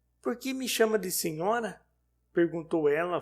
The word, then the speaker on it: senhora: "Por que me chama de senhora?", perguntou ela, fazendo soar o ó com a voz cheia, defeito de pronúncia, mas as outras de senhora tenho notado ainda esta noite. Essa é, creio eu, a verdadeira pronúncia da palavra. Mas nós, os brasileiros, para distinguir da fórmula cortêzinho, usamos da variante que soa mais forte e com certa vibração metálica.